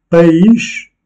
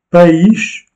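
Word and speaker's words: país: et avec un S, païch, la prononciation est différente. Païch, donc ce n'est pas une diphtongue. Les deux voyelles se prononcent séparément, comme étant des syllabes différentes.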